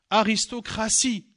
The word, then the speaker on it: aristocratie: La lettre T, c'est une lettre qui se prononce T, mais c'est une lettre qui se prononce aussi S. Une partie, T-I-E. Aristocratie, T-I-E, mais je prononce S.